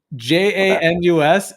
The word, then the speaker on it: Janus: tell you in a very funny joking way j-a-n-u-s is actually pronounced janus uh china's you remember when gregory